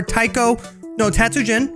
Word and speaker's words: Taiko no Tatsujin: enjoyed this if you want to see more taiko no tatsujin that's definitely the correct pronunciation don't worry about sweetheart if you want